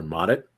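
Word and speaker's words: Mottet: had theirs names father modit you can look it up uh sound it out it's spelled like it sounds m-o-t-t-e-t he actually wrote books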